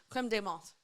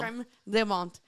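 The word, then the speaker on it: crème de menthe: But I was like, how do you actually pronounce this in French? And they say creme de menthe. Clem? Creme de menthe.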